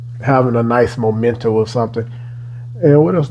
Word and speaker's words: Momento: overall man it is moment M I was saying it wrong in my short that actually got cut up or whatever I don't know what happened with that but this is momento by R like having